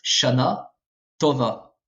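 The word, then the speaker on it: שנה טובה: emphatique en hébreu moderne à l'époque c'était prononcé de manière emphatique mais ce n'est plus le cas actuellement donc ça se prononce shana tova et cette lettre là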